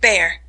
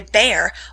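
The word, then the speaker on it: Bhaer: at his horrid name it isn't pronounced either bear or beer as people will say it but something between the two as only Germans can give it I'm glad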